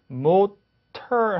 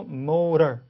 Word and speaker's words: motor: 그래서 motor 하지 않고 motor, data 하지 않고 data 이렇게 발음되는 거죠.